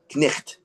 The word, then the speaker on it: knight: You know, it's spelled Knight. If you go back 600-700 years ago, it would have been pronounced knicht. Right. That's the old, like early Middle English or late Old English.